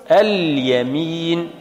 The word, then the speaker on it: اليمين: قالوا لام التعريف، فلام التعريف نقول الشمس، الشعر، فأضغمنا لام التعريف في الشين. أضغمت ولا لا؟ فهمتم ما معنى أضغمت؟ تدخل فيها وتحذف اللام وننطق بالشين مشددة. وأما في الياء فنقول اليمين، اليمين، اليسر. إذن هنا أظهرنا اللام عند الياء، والإضغام مش قلنا أضغمت وأظهرت؟